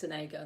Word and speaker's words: Sonego: I don't know if you pronounce his name Sonego because he's Italian. I think it's Sonego.